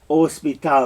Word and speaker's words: hospital: oh it's my favorite remember do not say h whenever you see h written do not pronounce it the only time that you see that there is an a sound is if there's a j okay so hospital not hospital hospital just depends on